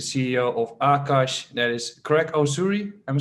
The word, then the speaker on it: Greg Osuri: interview with the CEO of Akash that is Craig URI am I saying it right right Wonder thank